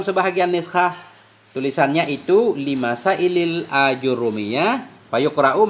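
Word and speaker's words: آجرومية: Dan sampai dalam sebahagian niskhah tulisannya itu limasailil ajrumiyah, fayuqra'u, maka dibacakan akan dianya ajrumiyah dengan fathah hamzah, hal keadaan hamzah yang mamdudah.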